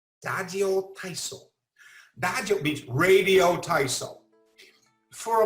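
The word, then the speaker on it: ラジオ体操: And I'm going to use the Japanese pronunciation here. Dajo Taiso. Dajo Taiso.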